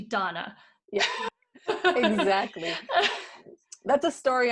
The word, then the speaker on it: Danna: said to me that so many people say your name wrong and most people call you dana and it's actually donna yeah exactly that's a